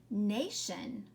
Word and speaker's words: nation: Let's circle the TION, and then the A is long again. And that word is nation.